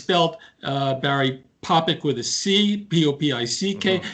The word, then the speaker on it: Popik: are pronouncing your name correctly topic yeah its topic people misspell it all the time the New York Times